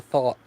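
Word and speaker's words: Thoth: but there is influences in here from the thought deck.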